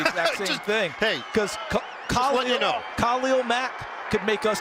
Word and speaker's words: Khalil: And I should mention, on the pronunciation of Mack, I asked him once, what do you prefer, Khalil or Khalil, which is what I've heard him say. He goes, oh, no, my name is Khalil, so I'm going to respect the man.